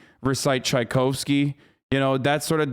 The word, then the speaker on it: Tchaikovsky: it but eleven months tchaikovsky yeah i know he's a composer shut the up you're probably closer than the american pronunciation yeah i just russians say chikovsky anyway so the critical